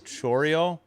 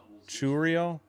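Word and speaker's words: Chourio: In there, slider 83, 0-1 to c h o u r i o, Chorio? Jackson Chorio. Churio? I would say Chorio. Throws on a one. And it's lined off the glove of Curt Casali. Single. Churio, okay. Churio. Lined it off the first baseman's glove into right.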